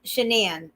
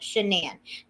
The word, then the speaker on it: Shanann: wanted to clear um shanann that's how you say it shenan to clear shenan's name